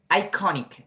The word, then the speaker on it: iconic: It's not iconic. It's iconic, okay? The pronunciation is iconic.